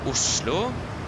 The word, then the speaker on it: Oslo: The correct pronunciation, okay, so that will be Oslo and Trondheim. But that's for the name. If you want the airport name, that will be Gardermoen and Værnes.